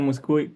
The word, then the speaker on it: Muskuy: Entonces, siempre en la penúltima sílaba se dice muscu.